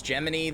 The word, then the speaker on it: Gemini: No, it's Gemini the Cricket. Except his name is spelled Gemini. But it's Gemini the Cricket.